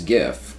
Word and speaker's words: GIF: we're spelling it although most people swear that it's gif even though the creator of it says it's jiff so that's why we're